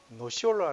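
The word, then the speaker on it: Nocciola: 주문해서 즐기실 수 있습니다 노 철 나 노 시 올라 라고 발음하는 이 단어는 니트웨어 로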